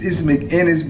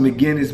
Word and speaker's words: McInnes: And it's McInnes. A lot of people used to pronounce it McGinnis, but I think it's McInnes.